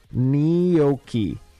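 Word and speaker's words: gnocchi: Neokei, right? Neokei. Cuz the G and N are pronounced as a as a as a as an N.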